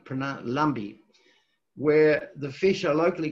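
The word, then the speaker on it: Lampi: is lumpy la mpi but it's pronounced like bee pronoun lumbee where the fish are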